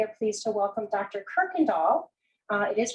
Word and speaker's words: Kuykendall: pleased to welcome dr kirkendall uh it is pronounced with a r sound even though it's spelled with a u um we are pleased